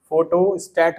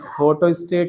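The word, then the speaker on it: photostat: अरे प्रिंट नहीं कराना है, फोटो कॉपी, फोटो स्टेट बोल सकते हैं, क्या बोल सकते हैं? स्टेट नहीं होता, फोटो स्टेट नहीं होता, स्टैट होता है, फोटो स्टैट। कभी स्पेलिंग पढ़ लेना, ई नहीं लगता लास्ट में।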